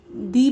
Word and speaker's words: the: और जब कभी भी नाउन कॉन्सोनेंट होती है, कॉन्सोनेंट लाइक आपकी BC, ठीक है, DFGH और इन लेटर्स से स्टार्ट होती है, तो हम लोग द प्रोनाउंस करते हैं, ठीक है.